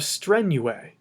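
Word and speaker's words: strenue: what we do is drop the us ending and add a long e now you have strenuae which means strenuously and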